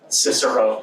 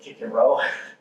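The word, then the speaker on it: Cicero: how how do you how would you pronounce this name cisero right now if we were really reading Latin we would say kicko because there's no Soft C Sound in Latin that's okay cisero and uh he gave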